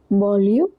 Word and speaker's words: banlieue: Pronunciation of banlieue is banlieue, and for this it is parisienne.